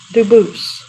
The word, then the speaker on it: Dubus: get your name straight I know a family with that the same exact spelling in American they do pronounce it dubus but you said you pronounce it du as the original Duo as the original French French yep very well duoo thank you you're welcome